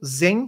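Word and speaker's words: Xen: em Linux que é o zen server eh se escreve com x que é o Shen server ele foi adquirido pela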